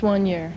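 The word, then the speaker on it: soigneur: year for granny's muffins it's a french name and it's spelled s-o-i-g-n-e-u-r it's one year and and it just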